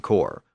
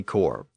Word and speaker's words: corps: became c r PS but both the p and the S remained silent and they remain silent to this day just as in standard